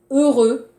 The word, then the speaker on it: heureux: Heureux, 행복하다, 형용사. Heureux. Attention, difficile. 조심하세요. 행복하다, heureux. R, 부드럽게 발음하세요.